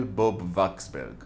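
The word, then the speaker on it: Bob-Waksberg: American Jew called Raphael Bob Waxberg. Yes, that's not how he would pronounce the name, but I find that W sound in these old Jewish European names harder to say than the V sound, which is how it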